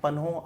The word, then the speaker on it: पन्हो: तुम्हें पता है ना पाली में आर्ट साइलेंट होता है इसलिए यहां पे प्रश्न नहीं है पनो आया उसके बाद में किसने